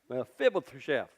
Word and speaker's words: Mephibosheth: So you got to lick your lips if you're going to say it right. Mephibosheth.